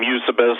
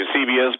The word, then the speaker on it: Eusebius: caesarea okay and some people pronounce his name eusebius some people pronounce the eusebius but he lived about 265 to 340 so